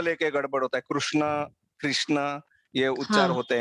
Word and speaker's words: कृष्ण: बोल रहे गिरीश ना होना चाहिए दूसरा व कृष्ण और है दोनों भी नहीं होना चाहिए पिच में मीडियम लिफ्ट गाना रुक कृष्णा कुछ तमिल हॉट लाइन नहीं चाहिए सिर्फ उसका